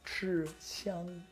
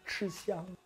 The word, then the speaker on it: 吃香: In Chinese, we pronounce this like 吃香, 吃香.